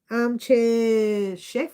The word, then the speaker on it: Armchair chef: Armchair chef. I always get your name wrong. I always say chief instead of chef.